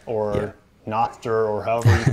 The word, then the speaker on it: Nostr: nostru yeah so not i call it nostra because i have an app called so nostradamus anyway so but some people call it nostra um yeah so nostra